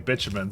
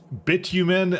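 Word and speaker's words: bitumen: I don't know but that's actually that's actually the North American pronunciation I'm not just cussing it's called like bitumin I think in Europe or something but it's bitumin in in North America and apparently nobody thought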